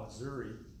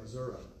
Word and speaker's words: Missouri: week, it was from, I call it Missouri, but they say Missouri. I don't know if that's what Mary and Todd say. I say, how do you spell that? I don't see an A at the end of that word, but okay, well, we're